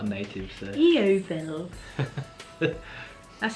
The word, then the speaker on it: Yeovil: Yeovil.